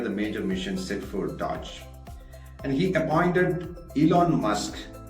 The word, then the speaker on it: DOGE: from USA what is Dodge though it rhymes with the automobile brand Dodge which is from Michigan's